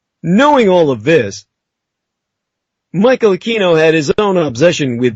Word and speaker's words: Aquino: out of their ignorance would simply pronounce his name with the K sound, Americanized as Aquino, the officers did the same. It was almost a show of passive resistance. And when anyone ever pronounced his name the way he wanted it, Aquino, everyone kind of shuddered